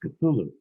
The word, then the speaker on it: Cthulhu: And he corrected me and he said, "No, it's pronounced Cthulhu."